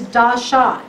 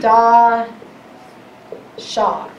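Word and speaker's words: דשא: sprouting is another hebrew word this word is da shah d-a-s-h-a in our english i'll put it over here d-a-s-h-a but you pronounce it da shah rhyming word okay so that word is to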